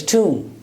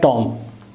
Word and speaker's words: tomb: But the accurate pronunciation is, if you consult Oxford Dictionary, you will find this symbol is tomb. It's not tomb.